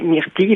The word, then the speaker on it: myrtille: Bah, Alors. écoutez, I2, enfin une finale en I2LE en français, ça se prononce I, comme dans fille, bille, sauf dans quelques exceptions, des mots très courants comme ville, mille ou bacille. Mais autrement, ça se prononce I et donc c'est myrtille la bonne réponse, je pense, la bonne prononciation.